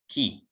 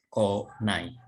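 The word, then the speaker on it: 来: Lalu huruf kanji ini Kalau seandainya diikuti dengan ma, ya mas, masta, maseng, desta, itu dibacanya ki, ya ki maseng desta. Kalau diikuti dengan nai, dibacanya menjadi ko nai.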